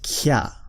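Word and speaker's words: きゃ: It has to be about half the size, and that's pronounced kya. Kya. Kya. Q.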